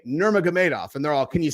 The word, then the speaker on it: Nurmagomedov: really proud that I've learned how to say nurmagamedov and they're all can you say khabib I'm